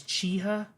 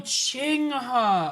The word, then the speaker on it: Qinghe: That's how you say that, is Chiha? Well, why didn't they just spell it? Why we got a Q in there? To examine the broader narrative and lore surrounding Qinghe, including its Oh, Qinghe.